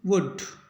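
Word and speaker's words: would: मतलब इसको पढ़ेंगे कुट और डब्लू यू एल डी एल के बाडी है इसका मतलब इसको पढ़ेंगे वुड तोब सभी को एक बार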